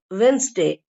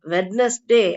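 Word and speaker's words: Wednesday: தவறுகளும் நடக்குறதுக்கு வாய்ப்புகள் அதிகம் இப்ப ஒரு எக்ஸாம்பிள் உதாரணத்துக்கு வென்ஸ் டே இது கரெக்டா பிரிச்சு படிச்சோம்னா வெட் நெஸ் டே வெட்னஸ் டே அப்படின்னு தான் படிக்கணும் ஆனா இந்த வார்த்தையில வெட்னஸ் டே அப்படின்னு படிக்கக்கூடாது நம்ம ஏன்னா டி வந்து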